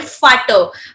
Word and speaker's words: Vater: V will be pronounced as Fau. So For example, father in German is called Vater, because generally whenever you are having the letter alphabet V, you'll be going to pronounce as F. So that's why it's your Vater here.